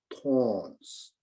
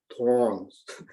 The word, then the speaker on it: thorn: Within my house, so there are a lot of thorns. There are so many thorns. My wife said I can't pronounce very well. Thorn. You have to have R sound, like thorns.